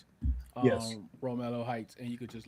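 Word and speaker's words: Romello: Second guy, Ro, how do you pronounce his first name? Romelo Romelo Heights.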